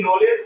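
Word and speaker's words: knowledge: हम लोग ना पढ़े नॉलेज पढ़ेंगे नी पढ़ेंगे नो पढ़ेंगे नो पढ़ेंगे नी पढ़ेंगे ठीक है ना यहां पर के का उच्चारण हम लोग नहीं करते आगे क रहा है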